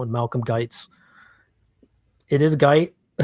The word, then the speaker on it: Guite: Malcolm Guite It is Guite? Yes, it is. It rhymes with white.